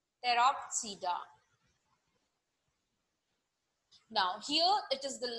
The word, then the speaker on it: Pteropsida: Again, the P is silent. Pteropsida.